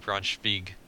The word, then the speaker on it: Braunschweig: Ooh, or no, Braunschweig. Because they kind of pronounce their W's as a V.